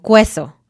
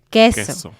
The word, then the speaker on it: queso: Entonces, dicen cosas como queso en lugar de queso. La Q es una excepción. Siempre va a haber una U después, pero siempre va a sonar como K y nunca se va a pronunciar la U. Entonces, quiero, queso, quito. Estas palabras, la U no suena.